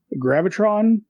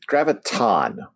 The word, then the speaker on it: Graviton: top Corner we get Spider-Man facing off against Gravitron Gra graviton graviton see always have a problem pronouncing his name he's it's Megatron right graviton